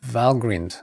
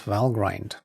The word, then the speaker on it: Valgrind: can help with that valgrind pronounced valgrind not valgrind nem check tool it's